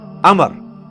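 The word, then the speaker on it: عمرو: love love love love ऊ में लिखा होता है उम्र लेकिन उसका मतलब वह जो है वह साइलेंट होता है और वह का मतलब यह कि आपने इसे पेश की बजाय जबर से पढ़ना है उम्र की बजाय पढ़ना है अमर तो हजरत है अमर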